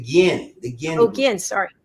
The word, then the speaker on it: Ginn: Actually, it's pronounced the Ginn.